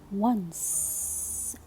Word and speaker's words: once: Do you remember, my dear students, when you see letter C, which is followed by letter E? So I will pronounce it what? S. Very good. It's called soft C.